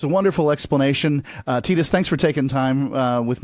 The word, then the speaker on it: Titus: Titus, that's spelled like Titus. We would say it in English.